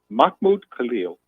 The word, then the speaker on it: Mahmoud Khalil: And let's start by getting his name pronunciation. Yeah, it's Mahmoud. What? Say it again. Mahmoud Khalil.